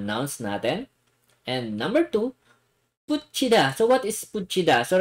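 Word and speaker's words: 붙이다: And number two, putchida. So what is putchida? So remember guys, yung pronunciation ng dito yung th sa baba and combination with e, it's chi. Okay? So this one is putchida.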